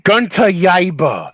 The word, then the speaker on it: Gunter Yaba: It's pronounced Gunter Yaba. Like Gunter Yaba, like Baba Yaga, Gunter Yaba.